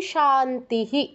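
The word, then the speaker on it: শান্তিঃ: আপনারা শুনে বুঝতে পারছেন প্রথমটা বলছি শান্তিস পরেরটাও শান্তিস শেষেরটা কি বলছি শান্তিহি আমরা জানি বিসর্গের পর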